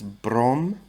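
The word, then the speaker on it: бром: So with these, they just drop the "ine". So fluorine, well, actually fluorine's a bit different. Fluorine's Ftor. Chlorine becomes chlor. Bromine becomes brom. Iodine becomes yod.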